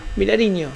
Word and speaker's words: Vilariño: ¿Cómo se pronuncia? Vilarino, Villariño. Vilariño. Vilariño, así.